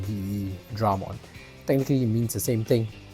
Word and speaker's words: Veedramon: and Dramon right um the English version just extended the V into ve so it's like the way you pronounce v like ve Dramon technically means the same